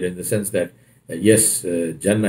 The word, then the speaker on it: Jannah: He said, you know, he said your point is valid in the sense that yes, Jannah is Jannah, it's not Ganna.